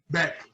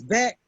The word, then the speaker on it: Boek: Boek? Beck. It's Beck. Yes. Why is it I see it? Oh, wait a minute. Hold on. B-O-E-K, but it's pronounced Beck.